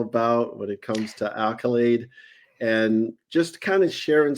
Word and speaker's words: Akylade: Did I pronounce it right? Accolade. You did. Accolade is correct.